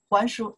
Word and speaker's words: 还: 还书, just say return, return book, return books, right? 还书, okay, this character after, see the noun, more prefer for return, we pronounce the 还.